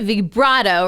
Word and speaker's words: vibrato: Did I say it right? Vibrato, right? Because it's Italian. Vibrato. That's right.